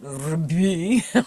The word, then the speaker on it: Rebbe: It's not Rebbe, right? No vowel there under the resh, and it's pronounced Rebbe.